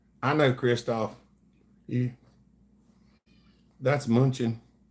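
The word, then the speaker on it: München: Munich is pretty cool. I know Kristoff. Yeah. That's Munchen. In German, that's how they pronounce it.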